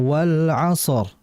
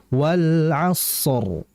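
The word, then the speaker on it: والعصر: Kemudian berikutnya pada ayat yang pertama, wal asror sadnya itu dialirin dulu jangan langsung wal asr. Kalau wal asr berarti sifat rikh shadnya hilang. Rikh itu apa? Mengalir. Jadi dialirkan dulu. Wal asr. Wal asr. As ah. E sisanya biar ngalir dulu baru ke ro. Wal asor. Jangan wal asr. Kalau kayak gitu kan berarti kurang ngalir sadnya ya.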